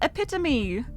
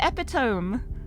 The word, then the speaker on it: epitome: And when I first heard it said, I was like, wait, that's how it's pronounced? I'm so silly. I actually remembered what that word was. And it's epitome. I always said epitome.